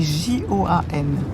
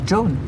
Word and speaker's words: Joan: Oui, prononcé à la française. Mais en Irlande où mon père est originaire, c'est très courant pour les femmes. Ça s'écrit J O A N.